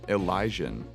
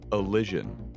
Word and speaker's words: Elysian: His most expensive shield is not in Elysian, but is actually pronounced Elysian.